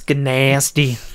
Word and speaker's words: Gnasty: That's gnasty.